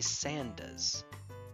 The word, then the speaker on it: Sanders: expect this accent but he pronounces his own name as Bernie sandas even though it's s a n d e r s he pronounces it as if it were s a n d a HS that's a that's an